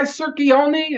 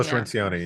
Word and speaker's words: Cirincione: That guy Circione, is that how you pronounce his name? Joe Cirincione, yeah. Cirincione? Yeah.